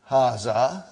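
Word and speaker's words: هذا: Haza see it is pronounced like ha. Huh? But this al if is not written.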